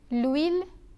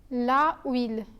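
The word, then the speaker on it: l'huile: love and not love similarly we say Lewin and not la wheel when referring to the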